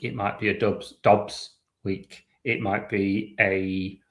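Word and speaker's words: Doubs: Um, but like Romeo Dubs was was it 4 years 68 million up to 80. I would just like to interject. I've checked and it's pronounced Dobs.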